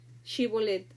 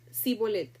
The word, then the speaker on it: Shibolet: Si él respondía, "No, entonces le decían, "Ahora pues di Shibolet." Y él decía, "Si bolet, porque no podía pronunciarlo correctamente.